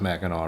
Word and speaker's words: Mackinac: It's pronounced Mackinac, right? You don't pronounce the C.